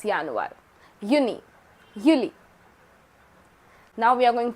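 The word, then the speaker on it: Juni: Similarly, J is pronounced as year. So, Yanuir, it's not January, it's Yanuir. Yuni, Yuli.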